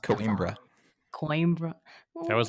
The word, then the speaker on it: Coimbra: We just played Quambra. I think it's pronounced Coimbra.